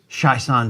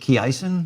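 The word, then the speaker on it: Chiasson: really watching these closely that's much better than when i used to pronounce it key eisen yeah i know i've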